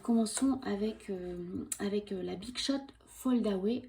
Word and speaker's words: Foldaway: Alors, commençons avec la Big Shot Fold Away. Je vous prononce ça à la française, hein.